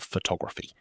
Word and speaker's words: photograph: Photograph, stress on the first syllable. Photography, stress jumps to the second.